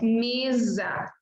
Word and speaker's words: mesa: Aqui você tem S entre vogais, então você diz mesa, camisa.